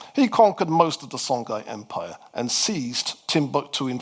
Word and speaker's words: Songhai: We then move to the third of the great West African desert empires called the Songai Empire. Some people pronounce that as Shongai.